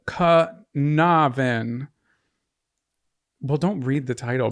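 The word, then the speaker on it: Caernarfon: juice C okay so this is what I wrote down how it's supposed to be said Kavin well don't read the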